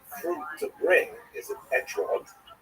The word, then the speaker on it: etrog: We all know that the correct fruit to bring is an etrog, or esrog in the Ashkenazi pronunciation, but it doesn't say so in the written Torah.